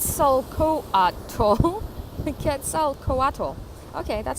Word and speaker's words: Quetzalcoatl: coach rule kids so cool octo who the Quetzalcoatl okay that's how you say it was the